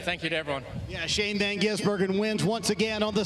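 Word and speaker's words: Shane van Gisbergen: Two years ago, we were trying to figure out how to pronounce his name. Now it's Old Hat in Chicago. Say it with me. Shane Van Gizburgen.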